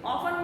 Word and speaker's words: often: Often means what? See, T is silent. Don't say often. That is wrong, children.